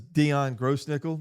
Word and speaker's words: Dion Grossnickle: Today, our guest is Dion Grossnickle. That is the way we pronounce it, right?